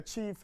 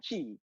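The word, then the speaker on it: Tshi: my pronunciation is correct, is T-S-H-I, Chi kings, yeah, the Chi kings.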